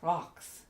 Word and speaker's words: رقص: Now, as I just said, if you're going to spell Raks as it's pronounced, it's probably going to be R-O-C-K-S, Raks. I've never heard an Arabic speaker say Raks, even with the Q in the back of the throat.